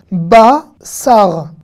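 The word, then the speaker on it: בשר: Safa, et ça s'écrit pas avec un samer, mais ça s'écrit avec un sin. Un autre mot avec un sin, un autre mot connu. Basar.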